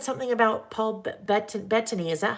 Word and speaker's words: Paul Bettany: Someone just said something about Paul Bettany.